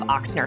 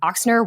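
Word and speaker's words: Ochsner: the time yeah so some people pronounce it with more of an X some people pronounce it with more of an O which is how it's spelled um but both are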